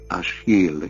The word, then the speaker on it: Achilles: that prompted this Search Achilles pronounced ashil in the French manner an orphan rescued from